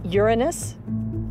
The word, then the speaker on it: Uranus: one of them has a funny name i pronounce the planet's name uranus from orbit uranus appears sedate and calm but